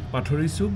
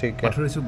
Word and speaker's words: पथोरी चक: पाथरी सुक गांव अच्छा पाथरी सुक गांव आपका प्रोनाउंस ठीक होना पड़ेगा पथोरी चक गाव पथोरी चक पथोरी चक